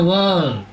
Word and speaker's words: world: Yesus ini bacanya world, jangan word. Kalau word itu kata ya.